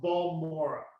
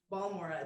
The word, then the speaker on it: Balmorhea: I think it's pronounced Balmorhea. Balmorhea. Balmorhea.